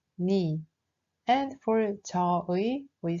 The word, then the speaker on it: 네: For 너의, we say 네, but in this case, we pronounce it more like 니.